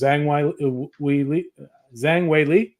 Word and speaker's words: Zhang Weili: Then we got a second title, which is Zhang Wei Li.